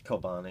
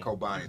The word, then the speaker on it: Kobani: Kobani. Kobani. They didn't take over Kobani last week. Baghdad. That's how you pronounce it.